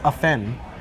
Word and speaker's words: often: Often there is no T. It's a silent T. It's often. No, but there is a T.